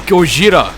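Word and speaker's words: ゴジラ: it's editor ID is Gojira which is the Japanese word for Godzilla and apparently the correct way to pronounce Godzilla Gojira and then someone went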